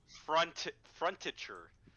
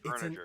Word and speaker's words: furniture: As if, yeah, as if the R goes first. Has he? Frontiture. I enjoy Yeah, you've been saying frontiture. furniture. My favorite is Well, frontiture. no, it's Furniture.